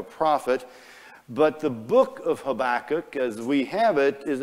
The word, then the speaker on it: Habakkuk: It could be pronounced Habakkuk or Habakkuk. And since Habakkuk sounded like tobacco, we thought that was really cool, so we went with that one.